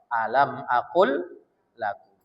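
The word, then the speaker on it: أَلَمْ أَقُلْ لَكُمْ: Tulisannya lamnya dua. Tapi kalau kita membacanya alam akl lakum.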